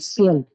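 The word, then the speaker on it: Spiel: তারপর এস পে যখন সংযুক্ত থাকবে এসটা স এর মতো উচ্চারণ হবে, তাহলে এটার উচ্চারণ কি হবে, হ্যাঁ, স্পিল।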